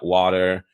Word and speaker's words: water: is a common one Americans don't tend to pronounce the te maybe it's a D like water so if you say or water they're like they don't